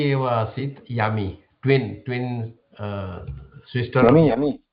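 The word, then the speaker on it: यमी: Yami. So we have to read the Sanskrit, not English. To get the correct pronunciation of the names. Yami. Same as Yamuna.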